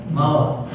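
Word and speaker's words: Mauá: I wrote down where she lived in Mawa, M-A-U-A, how do you pronounce it? Mawa.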